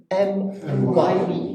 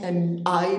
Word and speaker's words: MYB: MYB. MY. It's not MI, but MYB.